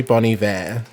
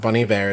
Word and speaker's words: Bon Iver: No, 85 is actually Bon Iver. Yeah. Like some people call him Bon Iver, but Bon Iver is how you one pronounce of it.